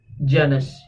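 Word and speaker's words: Janus: रूमी तहजीब में एक इनका देवता था जिसका नाम था जैनस या जीनस, जो भी इसके आप प्रोनाउंसिएशन करना चाहें। तो ये देवता था आगाज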